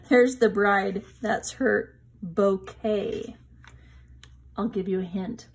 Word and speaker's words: bouquet: That's her bouquet. I'll give you a hint. Look at that word. Remember buffet? Bouquet is another word. I think they're French, and we pronounce it the way that they do.